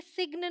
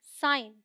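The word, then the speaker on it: sign: अलग्न नहीं है अलाइन ये सिग्न नहीं है साइन ठीक है अब देखिए एन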